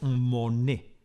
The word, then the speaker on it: Monet: Data de 1874 y su autor es Claude Monet, con una sola N, que aunque su apellido se pronuncia igual, no tiene ninguna relación con Jean Monnet, con dos Ns, que es el protagonista de mi intervención.